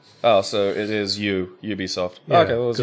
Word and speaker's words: Ubisoft: has to be stunt the pronunciation has to start with a consonant oh so it is you Ubisoft say R Ubisoft they